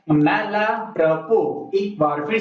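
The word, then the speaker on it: mal à propos: यही इसका सही प्रोनाउंसिएशन है, अंत में एस का प्रोनाउंसिएशन नहीं होता। आप लोग ऐसे बोल सकते हैं मैला प्रपोस।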